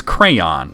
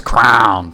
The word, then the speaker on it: crayon: You pronounce it as cran? It's crayon. There's a Y in there. What is with people? Brandon says crown, too. Crown. And I'm just like, crown? No, crayon.